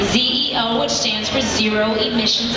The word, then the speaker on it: ZEO: Zo concept and yes it is spelled exactly as it sounds Zeo which stands for zero